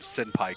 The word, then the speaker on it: senpai: in the Japanese writing, the letter N in a name like that, like in between a vowel and a consonant, is pronounced like an M. Mm-hmm. That's why a lot of people get the word senpai confused.